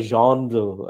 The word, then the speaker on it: genre: literary type or a genre as it is correctly pronounced because it happens to be a french word you must know the